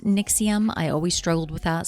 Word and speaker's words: NXIVM: it stands for but I think it's pronounced nixium I always struggled with